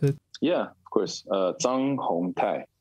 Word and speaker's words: Zhang Hungtai: Can you pronounce it? Yeah, of course. Zhang Hungtai. Zhang Hungtai.